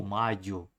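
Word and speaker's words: Mallo: eu vou falar Hugo Malo. É que é espanhol, né? É Hugo Maio.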